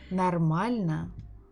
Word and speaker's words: нормально: The same was with the word нормально. So we have O, but I said na.